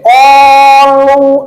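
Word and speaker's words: قالوا: Jadi qalu, nah bacanya tuh gitu, ya. Segitu pun cukup. Jadi kenapa dipanjangkan? Lihat tulisannya. Setiap ada alif, angka 1 tidak pakai baris, maka alif kan. Nah, segitu pun cukup, ya. Qalu. Tuh. Kenapa lu dipanjangkan? Sebab ada waw mati sebelum baris domah kan?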